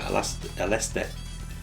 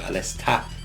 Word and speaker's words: Aleste: Although the correct way is Super Aleste, or Alesta, if you take the katakana into account.